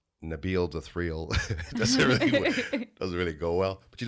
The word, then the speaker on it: Nabil: it properly right and it's actually pronounced nabil so Nabeel the three oligo well